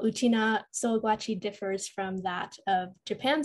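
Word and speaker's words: Sōgwachi: How do I pronounce that? Sougwachi.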